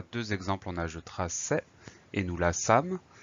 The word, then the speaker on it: traçais: On a deux exemples, on a je traçais et nous la sâmes. Si on oublie la cédille, la prononciation change, ça donne je traquais et nous la câmes.